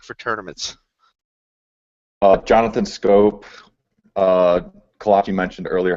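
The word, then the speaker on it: Schoop: explain to me why the last name SCH 00 p is pronounced scope and not shoot it doesn't ask me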